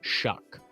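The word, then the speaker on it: Shough: hyping up shuck well it's spelled like show it's spelled s h o u g but then I think it's pronounced shuck I I believe that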